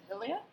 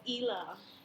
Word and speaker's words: Hila: I really felt bad for Hilia. Sorry, guys, I don't watch a show like this. Ela. It's spelled Hila. Oh, okay, Ela. But it's Ela.